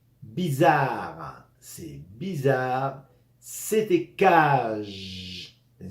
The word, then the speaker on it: bizarre: la poitrine c'est bizarre la Z ou no entre vocales va sonar hein bizarre c'est bizarre c'était cage